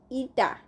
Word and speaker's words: eta: Now the coefficient of viscosity, that is pronounced eta, for a fluid is defined as the ratio of sharing stress to the strain rate.